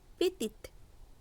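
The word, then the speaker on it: petite: PETIT পেতিত। পেতি means বেটে। এখানে শব্দটির মধ্যে ই থাকায় 4 নম্বর পয়েন্টে উচ্চারণ হচ্ছে পেতিত।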